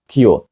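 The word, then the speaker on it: queue: це все дове слово вимовляється просто як Перша його літера Q наступні чотири літери там глухі Отже все це слово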